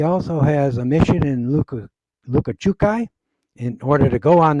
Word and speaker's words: Lukachukai: church there, he also has a mission in Lukachukai. In order to go on the mission, you have to learn how to pronounce that word, Lukachukai.